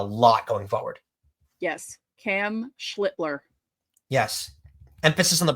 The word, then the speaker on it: Schlittler: Cam Schlitler. Yes. Emphasis on the pronunciation.